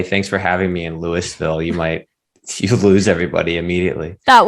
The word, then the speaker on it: Louisville: Friday will actually be in Cincinnati, and then Saturday will be in Louisville. I've always pronounced that wrong.